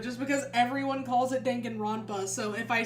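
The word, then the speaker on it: Danganronpa: That's why I feel like I can't say Dongan Rona even though that's technically how it's how it would be pronounced, but it's dena. Everyone calls it that. It is in fact Dangan Rampa.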